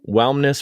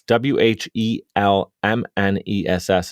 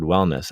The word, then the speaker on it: Whelmness: Whelmness Productions, and that's WHELMNESS. If everybody's listening, like, why does he keep mispronouncing the word wellness? I'm saying Whelmness Productions, and Jacki started that in 2018.